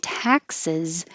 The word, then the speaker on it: taxes: If you're talking about 17, taxes, you have to open much more. Taxes. And the S sounds like a Z at the end.